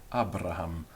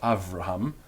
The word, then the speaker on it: Abraham: And so we have Abraham, Abraham, not Avraham, and that's why in your Bible it's Abraham, and that's why in English we say Abraham, because such was one of the ancient pronunciations.